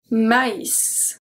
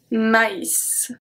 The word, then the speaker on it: maïs: I don't know if you remember the lesson about tréma, but that simply means that the letter has to be pronounced separately.